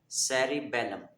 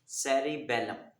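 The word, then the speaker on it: cerebellum: पहली एग्जांपल है सेरिबेलम। सेरिबेलम, इसमें सी जो है वो सीन की आवाज़ दे रहा है।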